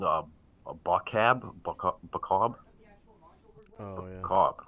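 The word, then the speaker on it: Boccob: Bacab, right? Please say it. That's how you pronounce it.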